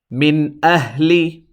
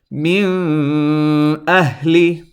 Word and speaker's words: min ahli: Notice the Nun sound I pronounced clearly and did not extend it. Now I'm going to pronounce it incorrectly. I'm going to extend this Nun sound, which is incorrect, by the way. Min ahli. Notice that Nun I held in my nose a little bit, and that's called